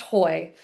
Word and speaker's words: Høj: um I have this there's a Scandinavian slash in the O. Um, and hopefully that gives people a little bit of a pause. Um, but it is pronounced Hoy. Um, and it means hill in Danish.